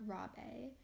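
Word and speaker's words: Rabe: Massacre was concluding so his name is mr. Rob a and this is spelled are a b e so well in china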